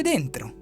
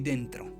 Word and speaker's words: dentro: Si dice dentro. Si scrive D-E-N-T-R-O.